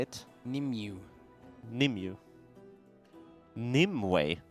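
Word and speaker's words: Nimue: a really good fight why is it called nimway that's just how I've always PR how would you pronounce it nimu nimu yeah isn't that the name nimu nimu I mean I why is it Nim way I don't know I'm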